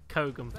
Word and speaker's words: Kogam: It's Kogam. Yeah, there it is. No, what is it? Kogam. But you can you can just call. It's not a U. It's an A.